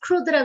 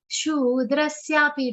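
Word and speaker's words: शूद्रस्यापि: Shudrasyapi. Don't say kshudra. Kshudra. That is wrong.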